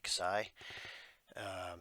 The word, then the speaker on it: Xi: It's pronounced KSI, Xi.